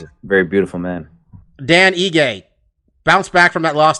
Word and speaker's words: Ige: apex um korean zombie dan iggy um yeah i keep saying it i say it wrong every time don't i ige um korean zombies last